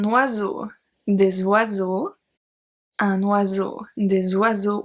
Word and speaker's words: oiseaux: Un oiseau, des oiseaux. We obviously don't pronounce the X.